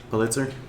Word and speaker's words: Pulitzer: Pulitzer.